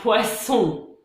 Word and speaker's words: poisson: Pareil pour un poison, un poisson. Vous entendez la différence? C'est donc toute l'importance d'une bonne prononciation pour bien se faire comprendre et éviter des situations un peu gênantes.